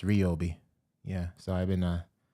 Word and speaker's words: Ryobi: Because, I'm into the Ryobi tools, but I was saying Ryobi, but it's pronounced Ryobi.